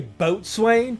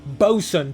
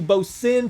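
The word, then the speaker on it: boatswain: Sailors like boat swings mate James Elliot Williams would do things like, "Did you just say boat swain? Wow, you're such an idiot. It's pronounced Bosan, Tyrone.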